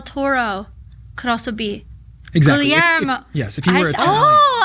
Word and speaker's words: Guglielmo: talented casting director and my dear friend, David Guglielmo.